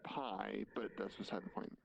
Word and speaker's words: Pi: The monks It's pronounced pie, but that's beside the point.